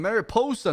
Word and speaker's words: Mariposa: who were her clients that's how you say her name mary poster not pushing her posa is a meth